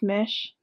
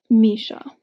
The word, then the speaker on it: Misha: I definitely want to read the next one though, because I love Mish. Oh, I'm saying it wrong again, aren't I? Hold on. Misha.